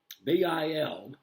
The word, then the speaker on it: Bildungsroman: I'll spell it. Bildungsroman. Bildungsroman.